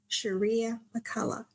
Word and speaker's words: Shirria McCullough: So with that being said, please welcome my guest, Miss Shirria McCullough.